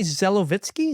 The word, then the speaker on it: Zelovitzky: Did you say Zelovitzky? Is that right? Yes, that's perfect.